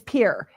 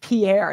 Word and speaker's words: Pierre: what's the capital of South Dakota Matt it's pier and he goes It's pronounced Pierre I'm like yeah because South Dakota is gonna